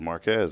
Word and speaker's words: Marquez: came to this area I would drive through Marquez and they're like no no no it's Marque yeah marqu or whatever and I was like I thought it was Marquez man cuz my dad grew up in the